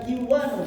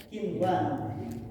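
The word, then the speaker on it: قنوان: Dunya, bunya bukan buya tapi bunyanun, kinwanun, sinwanun bukan kiwanun tapi kinwanun. Ada beberapa kata tidak begitu banyak. Nah, diistisnakan, dipengecualiankan.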